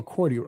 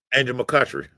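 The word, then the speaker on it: McCoughtry: What's dope about this is, and Angel is Angel McCourty. How am I saying? Am I saying it right? Angel McCutchery.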